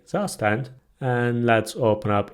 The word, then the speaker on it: Zustand: By the way, I know its pronunciation is different. It's a German word, but I'm gonna say Zustand.